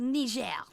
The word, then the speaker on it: Niger: be perfectly correct here, you would have to adopt the French sounding pronunciation of Niger would be said different countries. It is called Ner. There's a country called Nij.